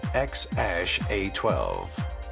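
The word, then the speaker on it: X Æ A-12: baby boy named X AE a-12 which is pronounced X Ash a12 Natasha Basset and Tesla's Elon Musk Elon musk's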